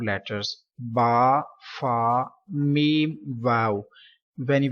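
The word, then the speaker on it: باء: Next letter is Ba. So some people pronounce Be.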